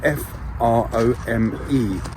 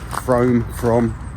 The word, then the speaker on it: Frome: Well, we're not too far away from Glastonbury and we're in a place called Frome, spelled F-R-O-M-E. So it's Frome, I believe it's pronounced Frome.